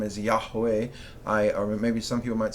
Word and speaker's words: Yahweh: when the Bush was on fire and God pronounced his name as Yahweh I maybe some people might say Jehovah God all right we're we're not um we're